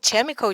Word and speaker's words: chemical: pronounce it wrong because most of the time people when they see the CH letter they pronounce it as the church sound so they don't sometimes they don't know that you can also be the curse sound okay so now I